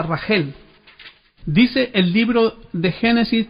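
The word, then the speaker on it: רחל: cuatro mujeres, sino con Raquel, que en hebreo se pronuncia Rajel.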